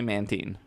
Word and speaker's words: Mantine: your man teen because it is often believed that it's manta ray and brine which is tine look i'm going off the 3d pro the pokemon battle revolution sereby's pronunciation guide and the anime they all say mantine that's what i got